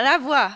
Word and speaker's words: La Voix: How do you say it in La Voix? Yeah, like that. Was that You're good? good. Yeah, la voix. Oh, yeah, that felt good. La Voix. Yeah, and then you can say it la voix.